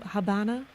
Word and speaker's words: Habana: Deep into Habana, as the locals pronounce it, we were granted a rare glimpse inside one family's home and lifestyle.